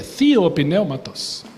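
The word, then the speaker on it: θεόπνευστος: A pronúncia grega é theopneumatos.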